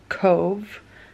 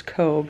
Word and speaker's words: Cobh: We drove like 2 hours to Cove, Ireland, which we thought it was Cobh because it's spelled C-O-B-H, but the B-H here in Ireland pronounces as a V, which is a fun fact.